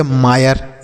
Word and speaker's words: mire: उसके बाद MIRE से हम पढ़ेंगे मायर। MIRE मायर। समझ में आ गया बच्चों? तो आई के बाद अगर RE रहता है तो इस आई का जो उच्चारण होगा वह आय के रूप में होगा।